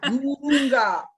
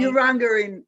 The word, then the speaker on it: Urunga: You're in Urunga. Is that how you say it? Actually, that is almost how you say it. Urunga in Gumbaynggirr. Okay, okay. Urunga in English.